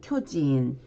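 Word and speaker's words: 巨人: 거인 할 때는 쿄진, 거대일 때는 쿄다이 이렇게 짧게 발음을 해주시면 되고요.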